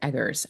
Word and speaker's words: Eggers: It's Eggers, right? It's a hard G. It's Eggers, yep.